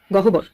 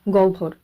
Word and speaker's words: গহ্বর: গ হ বয় র গহবর তাইতো কিন্তু না এগুলির উচ্চারণ একটু অন্যরকম হবে এখানে সঠিক উচ্চারণটি হয়ে যাবে জিউভা আওভান এবং গ ভর কোন পদ্ধতিতে এই শব্দগুলির